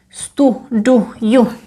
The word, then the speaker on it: studuju: So the verb to study, when you say já, you would say já studuju. A really nice u.